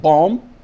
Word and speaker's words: bomb: The B is not pronounced in some words like bomb. The first B in bomb is pronounced, but the second B is not pronounced, it's mute.